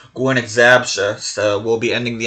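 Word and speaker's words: Górnik Zabrze: Is when I found out that it's supposed to be pronounced that Gornik Zabrze.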